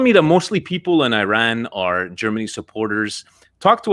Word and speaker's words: Iran: By the way, I just want to say that it is actually pronounced Iran and not Iran. Iran and not Excuse me.